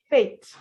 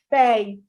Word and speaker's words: Faith: If you pronounce that name as Fate, you're just simply saying F-A-T-E, Fate. Her name is Faith. Faith. Faith.